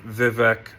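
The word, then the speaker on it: Vivek: idiots who would support Vivec. Vive is how he says it. Why would you pronounce somebody's name correctly if they're a scumbag?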